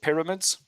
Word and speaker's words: pyramids: Um, and then with the word pyramids, you stressed mids, but you need to stress the first syllable, p, pyramids, like that. Yeah. Pyramids. You need to stress the first one.